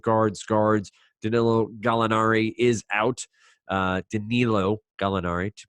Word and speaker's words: Danilo Gallinari: Danilo Gallinari, to pronounce it correctly.